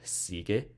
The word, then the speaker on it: sigue: Like sigue, gio. We can't spell it as SIGE because that would be sige. So we put a silent U here to indicate that it's sigue.